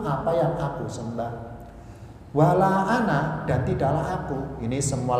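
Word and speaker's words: أنا: lafaz Ana di al-qur'an di atas Alif ada tanda lingkaran kecil ya bunder itu bukan sukun itu itu bermaksud bahwa alifnya harus ada tertulis tapi tidak terbaca makanya bacanya an itu pendek Ana pendek ya Oh berarti semua lafaz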